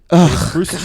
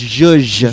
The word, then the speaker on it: zhuzh: It's zhuzh. Zhush. It's like how you would say Jew but if you had a speech impediment.